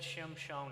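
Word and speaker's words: Shimshon: actually shim shone which if you said shim Shon I'm not sure I would get to Samson in English but there's there's just a little interesting fact for you on how it would be pronounced um so Samson is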